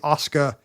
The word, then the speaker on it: Oscar: Maybe they did not land on Papa, but they did not like the you're supposed to get rid of the final terminal R's. It's supposed to be Oscar, Victa, which nobody does.